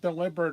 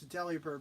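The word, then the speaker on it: Delibird: It's it's it's it's it should be pronounced deliberate, right? No, it's deli bird because I'm going to make this thing into a sandwich.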